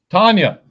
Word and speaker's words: Tanja: Tanya. Turn that J to a Y.